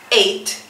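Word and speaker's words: eight: No lo dejes en EI, porque normalmente lo dejan ahí, EI, y no suena la T. Tiene que sonar, ¿ok? Entonces, 8, 8. Y cuando vayas a hacer la pronunciación de la letra T, tienes que colocar la punta de la lengua en la parte superior de tus dientes, de la parte de arriba.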